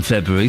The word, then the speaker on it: February: There are 2 R's in February, so make sure you say them. Otherwise, it's mispronunciation and it's something I just won't stand for.